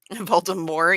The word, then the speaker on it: Voldemort: Voldemort. Yeah, it's a silent T. It's fine. Yeah, that's how it's supposed to be pronounced.